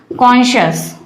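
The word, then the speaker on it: conscious: pronounce करके देखिए, कॉन्शियस है, दो हिस्सों में तोड़ लीजिए, कॉन और शियस, SCIOUS, ES की तो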